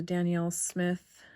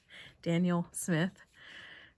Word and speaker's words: Daniel Smith: i also added the danielle smith i keep saying daniel you'd think i know how to say it daniel since my dad's name is dan daniel smith buff titanium and i think